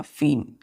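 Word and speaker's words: feign: बच्चों हम लोगों का फीन ई आई जी एन फीन इसको क्या पढ़ते हैं बच्चों फीन क्या पढ़ते हैं फिन फिन का मतलब होता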